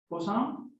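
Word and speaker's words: Poussin: you in 1896 by it's pronounced busan and so this is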